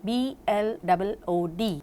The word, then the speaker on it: blood: When I say blood, it has double O-D, B-L-O-O-D, blood. When you say flood, it is F-L-O-O-D, flood. But blood and flood are not pronounced as food.